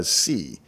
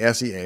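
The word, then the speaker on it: SEA: enhancement associates or sca usually pronounced by c but i'm going to say s-e-a because i like it better arc was a program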